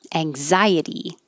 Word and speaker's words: anxiety: jaw higher s um anxiety ang zai now that is now the letter x sounds like a z anxiety after i had